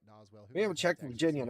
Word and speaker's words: Doswell: Doswell, and another one it's Doswell. Well, got quite a bit of rotation down here by Hanover. And another one, the S is silent.